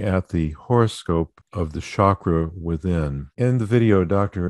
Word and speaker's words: chakra: well-being these are called chakras that's a sanskrit word meaning wheel or lotus sometimes it's pronounced with the hard c as in chakra but